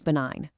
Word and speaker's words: benign: That bee is benign. But please, whatever you do, do not forget that silent G when it's your turn at the microphone.